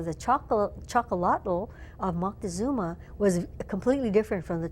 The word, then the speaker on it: Moctezuma: actually not a misspelling because I guess what we call Montezuma his name is more correctly pronounced Moctezuma okay he was drinking